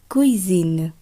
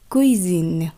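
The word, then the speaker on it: cuisine: এস তারপর যদি ভোয়েল থাকে সেই দুটি অংশ একত্রে উচ্চারণ হয় জ এর ন্যায় বা জেড এর ন্যায়, যাই বলুন না কেন, যেমন কুইজিন, কুইজিন অর্থাৎ রান্নাঘর।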